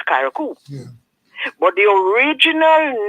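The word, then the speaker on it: Carriacou: Because C-A-R-R-I-A-C-O-U is Karakou.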